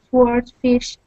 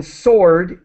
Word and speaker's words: swordfish: seafood, like tuna and swordfish, with dangerous levels of mercury. Okay, great. And just the W in sword is silent. We do not pronounce the W.